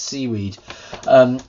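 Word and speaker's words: cwiid: library called CWI ID which I guess is pronounced seaweed which installs and it's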